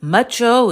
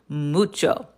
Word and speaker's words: mucho: Is it macho? Is it macho? You just remember our rule rule. Remember our rule up here. There's always room for the Spanish oo. So, it's mucho mucho.